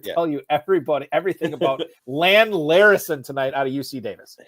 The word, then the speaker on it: Larison: I don't even know how to pronounce his last name. Is it Lan Larison? Larison, yeah.